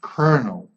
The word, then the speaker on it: colonel: really is a peculiarity colonel the only word in English worthy l is pronounced like an R this is important to